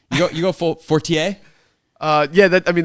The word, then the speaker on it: Fortier: yeah that I mean that's the way it's supposed to be pronounced my dad and my sister like don't care they're like but I wouldn't go I just go versus like Fortier oh oh oh no